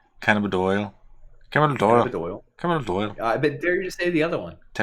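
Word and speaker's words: cannabidiol: Cannabidol. You didn't say it right either. You said dial. Doyle. It's DIOL. Cannabidol.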